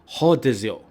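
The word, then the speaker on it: rodízio: Now, it is pronounced in Brazil with an H. Rodizio.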